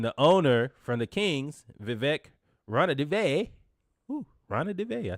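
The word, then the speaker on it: Vivek Ranadivé: Then the owner from the Kings, Vivek Ranadive, I said it right.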